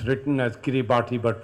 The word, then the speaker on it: Kiribati: president of the of kiribati it's written as kiribati but pronounced as kiribati this is a small set of islands which